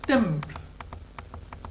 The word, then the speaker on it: templum: Dès le IIe siècle avant Jules César, nous savons que templum se prononce temple. C'est-à-dire que la syllabe finale tombe.